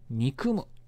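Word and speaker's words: 悪む: 大事ですじゃあまずこの悪の読み方なんですけれどもこの読み方は憎むというふうにやっいます悪なるなぁけど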